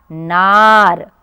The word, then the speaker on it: नारा: नार। और ये देखिए, न में फिर से आ की मात्रा है, ना, और र में भी आ की मात्रा है। हम इसको उच्चारण करेंगे रा, नारा।